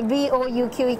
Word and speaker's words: Bouqui: He said, no, that if the Q comes before the U and all that, it becomes a K sound, not a Q, sound.